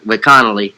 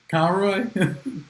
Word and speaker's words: Conroy: Well, I think you kind of took it the easy way out by going with Connolly. That's how you say it. Conroy.